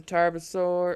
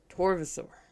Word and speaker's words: Torvosaur: These are two of the Tarbosaur, or I keep wanting to pronounce it the B. I know it's a V. Torvosaur.